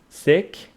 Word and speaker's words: sick: So, we got two similar words kind of in pronunciation. One of them is sick, sick, and the other one is seek. Okay, so the pronunciation differs. Sick, seek, different.